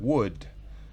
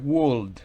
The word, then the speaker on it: would: antecedido por el auxiliar Word recuerden no es World esa l no se pronuncia seguido por el participio